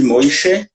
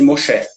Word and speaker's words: Moshe: O nome Moshe em hebraico, tem duas maneiras de ser pronunciado, né? O mesmo nome, depende do costume, depende da origem, da região. Então, tem alguns que chamam de Moishe e tem alguns que chamam de Moshe, né?